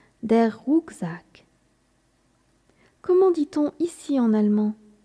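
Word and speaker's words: Rucksack: à dos se dit d' rousac comment l'écrit-on rousac s'écrit r C K s a C k rousac de quel genre est le mot rousac c'est un mot masculin c'est pourquoi on l'apprend avec l'article d' der rouzac comment dit-on ici en allemand ici se dit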